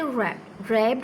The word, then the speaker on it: wrapped: या से रैप्ड होता है तह करना, या the wrist watch, WRAPPED। W is silent, wrist में W इज़ साइलेंट, वॉच में T इज़ साइलेंट।